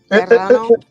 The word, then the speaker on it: Serrano: Serrano.